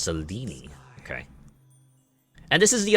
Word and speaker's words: Selene: Her name is pronounced Selene.